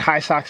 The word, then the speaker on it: HISOX: And I'm at Home of the High Socks, and High Socks is spelled HISOX.